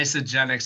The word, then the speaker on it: Isagenix: pronunciation. All right. Isagenix.